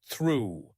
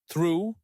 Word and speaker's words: through: Try this with the word through, which is often hard to pronounce. Say it slowly and clearly 10 times. Through. Through.